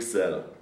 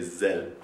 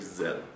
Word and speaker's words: Sell: real name is sell like in selling but it's actually it's a german source we say zel so my real name is zell do you spell it